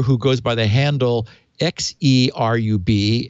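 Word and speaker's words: Xerub: But this hacker who goes by the handle X-E-R-U-B, X-E-Rub, I guess, or Z-Rub, don't know how you want to pronounce it. Yeah, I said Cherub. Good, Cherub.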